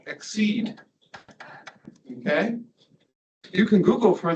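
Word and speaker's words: XSEDE: used to be called exceed okay you can Google for those names and get somewhere exceed is not spelled the English word it's spelled with X and S E D but those are the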